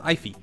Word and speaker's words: Aoife: I think it's Gaelic or Irish, something like that. It's pronounced Aoife.